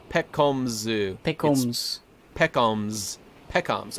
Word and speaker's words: Pekoms: P coms P coms one piece it is pronounced hold controlled y'all god you're right it's Peck combs ooh pickles Peckham's pet combs okay I have